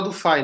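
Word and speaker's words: Du Fay: bom eh não é Du Fei né o meu professor de eletromagnetismo falou Du Fei fala duf que é a pronúncia francesa adequada disso mas você fala como você quiser gente fala do Fai não tem problema tá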